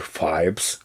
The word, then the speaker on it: Phoebus: Phoebus, como é dito no filme, que é a pronúncia correta, mas aqui no Brasil a gente não fala Hawaii, a gente fala Havaí.